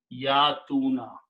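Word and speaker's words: يأتون: Now, when we pronounce these together, this is a weak letter. Yaf'aluna, and in this weak letter, ya, we don't need to pronounce it. So this word becomes yatuna.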